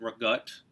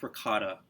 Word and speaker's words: ricotta: homemade stuff mainly uh ricotta cheese where i'm from people call it regutte i like ricotta not that i'm trying to be you know cultural but it's just the way it's spelled that's how they say it in in italy that's where it's made that's just how you say it but anyways i